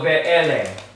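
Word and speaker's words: וְאֵלֶּה: It is this sound here, E-H. It's really just the sounding of that vowel. It's not used like a ha. So it is not considered closed, because say that. Ve-ele. Mouth is still open. So it's an open syllable.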